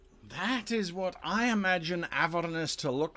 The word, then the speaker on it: Avernus: Or Avernus as I've heard it pronounced, but I can't handle that pronunciation. It's Avernus as far as I'm concerned.